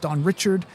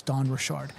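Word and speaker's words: Dawn Richard: kind of some debate this morning about how her name is pronounced Don Richard. Um but when you hear her pronounce it, she says her name is Don Rashard.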